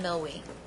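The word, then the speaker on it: Millwee: Milwee. Milwee. Milwee. I can't even spell it.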